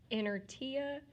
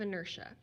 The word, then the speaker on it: inertia: the law of inertia and inertia is spelled like inner TIA but I don't want us to pronounce it that way I want us to say it correctly so the law of inertia the law of inertia